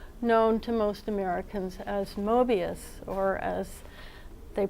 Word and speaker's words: Moebius: of Jean Giraud, known to most Americans as Moebius, or as they pronounce it in France, Moebius.